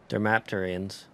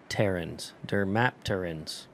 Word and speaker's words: Dermapterans: Figured the Dermapterians. Do not say it like that. Dermapterans.